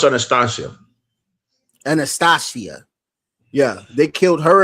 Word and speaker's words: Anastasia: I mean, also, not to mention a famous figure, Anastasia, the real Anastasia, not the Disney version of Anastasia.